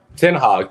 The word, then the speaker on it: Ten Hag: Ten Hag. So that's our coach's name. It's pronounce it Ten Hag.